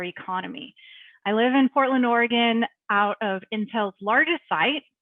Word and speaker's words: Oregon: A lot of people pronounce it Willamette and Oregon. It's Oregon and Willamette River.